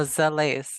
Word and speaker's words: Zalais: Like lace, Lace. but like the lace. Oh, Zalais.